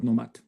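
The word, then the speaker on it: KNOMAD: Etc so please battle nomad thank you so Nomad spelled with a k um Nomad is short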